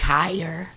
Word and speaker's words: Kyer: It's Kyer. It is Kyer? Kyer, yep.